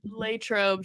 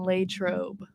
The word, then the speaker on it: Latrobe: so for the people how's it actually said Latrobe training camp is in Latrobe thank you but don't they say